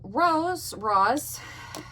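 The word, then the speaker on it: Roze: But, so, Rose, it tells you how to pronounce it, but it's spelled R-O-Z-E.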